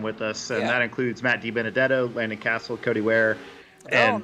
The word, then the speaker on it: DiBenedetto: Matt DiBenedetto as he comes down through the flyover here at the Talladega International Motor Speedway.